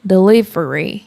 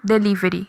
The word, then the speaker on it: delivery: Delivery. E aí, nós falamos como? Delivery. Delivery. Ri. Sendo que no inglês é delivery. Mas, veja que no inglês, o mais forte é falar a sílaba li.